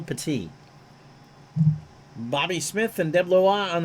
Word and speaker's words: Petit: shaw and pati and it's not petted it's not bob headed spelled the same way but it's michelle petite bobby smith and devloa